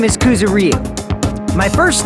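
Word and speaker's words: Kuzuryu: My last name is Kuzaro. My first name is pronounced.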